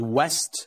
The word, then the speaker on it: west: uh the word uh the word with the w is like a like a like a wow so we never say this is that sounds like something like a German would say yeah uh vest and West are completely different so vest is like